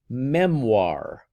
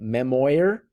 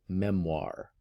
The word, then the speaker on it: memoir: It's pronounced memoir. So say that with me, memoir. Okay, I know I have a whole bunch of students last year who started calling it memoir, but it's memoir.